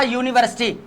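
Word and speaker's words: university: लेकिन अब हम थोड़ा सा जो है ना इसको देखते हैं, पहले देखें आ यूनिवर्सिटी, यू आ गया, यू का प्रोनाउंस दे रहा है, ये देखो यू हमारा लिखा हुआ ऊपर, ये यू की प्रोनाउंसिएशन दे रहा है।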